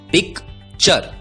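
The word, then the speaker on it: picture: टी यू आर ई दोस्तों याद रखिए टी यू आर ई का उच्चारण होता है चर टूरे नहीं उच्चारण होता है चर अब यदि टी यू आर ई का उच्चारण होता है चर तो पी आई सी टी यू आर ई का उच्चारण होगा पी आई C pick T यू आर ई चर उच्चारण होगा पिकचर पिक्चर पिक्चर का मतलब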